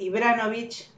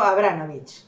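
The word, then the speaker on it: Ibrahimović: Y en vez de decir Ibranovic, Ibranovic, ¿no? Dijo Abranovic. O sea, ni siquiera pero le juro que lo dijo así, ¿no? Y el relator después lo decía correctamente sin corregirlo.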